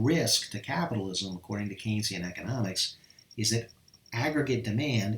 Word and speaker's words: Keynesian: pronounced with Keynes like this okay so you pronounce this Keynes Ian Keynesian alright like that alright so can see